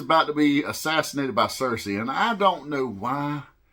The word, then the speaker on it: Cersei: in house review uhuh not happening so it's Cersei but Cersei is going to kill princess Ilana